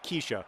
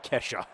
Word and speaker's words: Kesha: that reminds me when i made fun of the music of keisha whose name turns out to be kesha um how am i